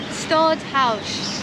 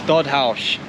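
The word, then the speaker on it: Stadthuys: here it was his red residence as well stodd house stodd house um that's how you pronounce it Tash just looked it up on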